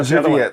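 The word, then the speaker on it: Żywiec: Uh Zywiec. Zywiec. That's how you pronounce it.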